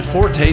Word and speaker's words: forte: The word you're trying to use is French. In French, it means strength. If you want to sound sophisticated, try using a French pronunciation.